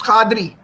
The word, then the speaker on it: Qadri: good question professor Cathy how do you say your last name is it Kadri yes it's Qadri Qadri so al qassam aha